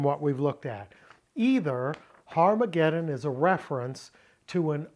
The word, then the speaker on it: Har Mageddon: Never pronounce it Armageddon because it has a rough breathing mark in front of the alpha. It's Har Mageddon because in Hebrew, Har means mount. Not Ar, but Har.